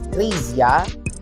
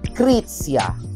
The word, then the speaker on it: Krizia: Ang spelling ay K-R-I-Z-I-A or parang pag binasa is Krizia. But the correct pronunciation is Krizia.